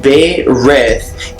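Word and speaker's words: Berith: Barith, pronounced Be-Rith, is a divination spirit said to turn metal into gold, which may be interpreted into alchemy.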